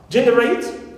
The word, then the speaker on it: generate: is stressed anti penal also generate rate No Stress fix clear knee not stress and G is Stress For Eyes we said